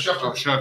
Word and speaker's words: Schefter: Yeah, Mike Tenay, Adam, what is it, Schefter or Schaefer or however you pronounce Adam it? Schefter.